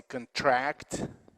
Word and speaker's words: contract: between verb and noun there is a difference in the placement of the stress and also the vowel so the word is if it is a verb we say contract seekin can with the